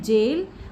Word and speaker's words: gaol: और जेल यानी कि आपको पता ही है कारागृह भी बोलते हैं हिंदी में, और इंग्लिश में जेल GAOL और JAIL दोनों रहेंगे।